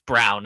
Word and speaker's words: Braun: been playing last night I know it's brown I I call him Brun because that's how his name is spelled if Christian Braun had